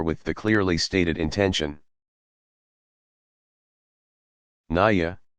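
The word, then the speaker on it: نية: the clearly stated intention Naiya pronounced anyiah saying I intend to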